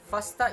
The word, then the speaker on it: FASTA: existing dna protein databases fasta is pronounced fast a and stands for fast odd because it works with any alphabet an extension of the